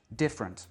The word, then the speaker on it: different: En anglais, on prononce different. On ne prononce que la première syllabe avec la voyelle pleine, de. Et après, tout ce qui suit, front, front, est complètement réduit.